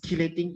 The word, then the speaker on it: chelating: as a chelating effect geologic chelating the way of how it pronounced is chelating effects okay so these are